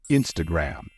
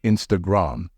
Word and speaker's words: Instagram: by saying Instagram on remember the stress in this word should fall on the first syllable so the correct pronunciation will be Instagram not Instagram but Instagram I saw